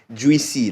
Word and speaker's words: Jweecy: Jweecy, like as it's pronounced, Jweecy.